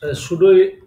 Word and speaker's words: pseudo: এখন আমরা যেটা বললাম সুডো class. সুডো class সুড class বলতে কি আপনি উচ্চারণটা দেখেন।